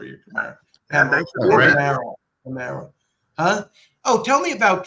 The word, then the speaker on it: Connemara: Is it Connemara or Connemara? Think about it like this, and this will go with the Italian theme. You say it's like a Canamarinar, a Connemara.